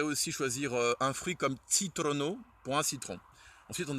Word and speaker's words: citrono: Ou on pourrait aussi choisir un fruit comme Citrono pour un citron.